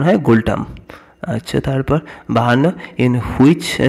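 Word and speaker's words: ngultrum: আচ্ছা, গুলটাম, এটা এনটা উচ্চ থাকে, উচ্চারণ হয় গুলটাম।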